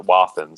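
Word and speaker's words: Wathen's: Yeah, I've met a guy who's an artist, and he's like a third generation non-distiller, and he pronounces it Wathans. So I go with Wathan.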